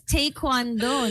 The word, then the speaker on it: Taekwondo: And it's Tay pala, no? Because Taekwondo, no? Yes. You've been Yes. saying it wrong all this time.